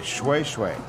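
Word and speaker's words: shweshwe: just one says the fabric called Jewish Way swaysway it's spelled like shoo shoo but that's pronounced well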